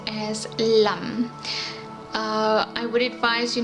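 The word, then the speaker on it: लं: There is a Bij mantra, which is a seed mantra for Mooladhara Chakra, and this is pronounced as Lam.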